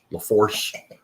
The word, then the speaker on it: Lafourche: tickfall oh yeah uh Lafourche don't pronounce they are it is the force uh LaPlace which is